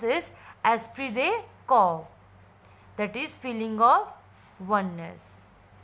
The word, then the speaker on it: esprit de corps: So our Google pronounce is esprit de corps, that is feeling of oneness.